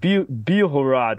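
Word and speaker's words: Білгород: Ukrainian social media they're starting to call it biohorad which is a Ukrainian pronunciation uh means White City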